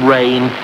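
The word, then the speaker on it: serein: right what sort of rign is s spelled s e r e i n French if you didn't spot the pronunciation small blame to you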